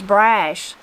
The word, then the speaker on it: brush: piles to be burned we pronounce the word brush meaning these Limbs and twigs as Brash it was a lot